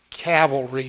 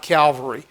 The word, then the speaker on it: cavalry: is the insignia for the ninth cavalry it's pronounced cavalry folks CA v al ROI is not Calvary Calvary is a hill just outside Jerusalem or